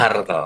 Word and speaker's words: Hartl: Nah, ini ya Bu Emma ya, yang Bacanya merupakan Hartle ya. Hartle. Bukan hard. Hartle.